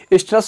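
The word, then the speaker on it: oestrous: और स्ट्रेस का ध्यान दीजिएगा, ओ से स्टार्ट होता है, ओ साइलेंट हो जाता है प्रोनाउंसिएशन में, स्ट्रेस साइकिल।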